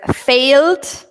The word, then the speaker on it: failed: Okay, whereas failed, we don't pronounce the E.